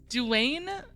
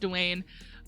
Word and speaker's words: Dulane: events together this year dulane i'm pretty sure it's actually pronounced dwayne will be the host